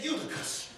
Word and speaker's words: Eutychus: He said, Dad, how you pronounce them strange words? I said, son, you can say it. Say Eutychus.